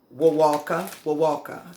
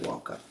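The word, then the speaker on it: Wewalka: Wawaka, that's how you pronounce it, Wawaka.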